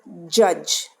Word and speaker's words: judge: it first one is judge ju d GE judge student this D is silent Ju DG is pronounced